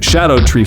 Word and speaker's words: Scadutree: are, of course, the Scat Fragments, because their implementation was kind of shitty. I'm pretty sure they're technically pronounced Scadutree Fragments, and these things permanently raise all of your global attack output and defense.